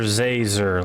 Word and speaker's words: Zazer: doing it on purpose it's Professor zazer like laser with a z how hard is that